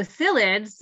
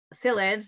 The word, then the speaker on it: psyllids: and to farmers so psyllids ah psyllids that's with a p and you don't pronounce the p are vectors to plant